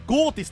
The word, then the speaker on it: Ghoti: ついに襲来ゴーですこれゴーティスって読むんだ読み方知らんかったわあのこれな